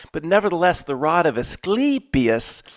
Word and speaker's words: Asclepius: It's Asclepius, like you say, sleepy, Asclepius.